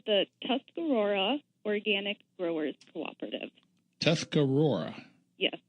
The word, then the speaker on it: Tuscarora: I got to get that name, that's pronunciation down. We're called the Tuscarora Organic Growers Cooperative.